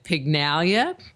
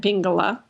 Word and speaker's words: Pingala: The Ida and the Pygnalia, which are kind of like, stop laughing.